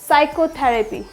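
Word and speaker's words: psychotherapy: साइकोलॉजी psychiatrist psychiatrist next साइकोथेरेपी साइकोथेरेपी यहां पे P silent होता है इसलिए एस का साउंड से प्रोड्यूस होता है क्या हो जाएगा साइकोलॉजी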